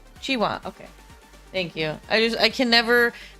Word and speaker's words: Qiuhua: Just pronounce them more like chi. Okay. Chiwa then. Chiwa.